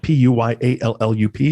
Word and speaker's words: Puyallup: that I'm from there because I said it right it's spelled p-u-y-a-l-l-u-p which most people say so it's Puyallup and uh it was